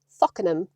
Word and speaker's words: Folkingham: I'm going to a village called Folkingham, which if you're from the Lincolnshire area, we pronounce as Faulenham, so you need to be a little bit careful with that one.